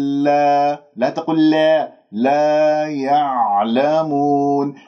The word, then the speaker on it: يعلمون: العين ساكنة، والعين الساكنة تحتاج إلى تدريب لأنه لازم تنزل أنت إلى وسط الحلقة، لأنه كما يقول علماؤنا أنه في انزعاج في المخرج كأنه أنت عم تبلع شيء ما تخرجها مقلقلة، يعلمون خطأ.